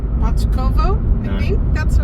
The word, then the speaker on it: Bachkovo: right, ladies and gentlemen, we are leaving Plovdiv, heading out to a monastery called Bachkovo. I think that's the right pronunciation.